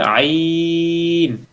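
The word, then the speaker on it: ع: হবে হা আরেকটা হচ্ছে আইন এই দুইটা অক্ষর হাটাকে অবশ্যই চাপাই বলতে হবে পুরা কোরআনুল কারীমের ভিতরে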